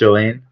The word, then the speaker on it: Joainne: Yes, Joane. Nice to meet you, Tona. It's pronounced Joane.